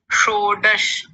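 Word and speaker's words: षोडश: उसका जी गुरु जी शोडश फिर से बोलिए शोडश वाह क्या बात है शोडश पहले मूर्धन्य शकार और फिर बाद में है तालव्य शकार शो डश शो डश ऐसा करके बहुत ही सुंदर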